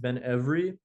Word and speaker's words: Ben Ebri: my grandparents use is Benri. So, Benri um is sometimes in other groups also pronounced Benri, but in my family it's almost always Benri.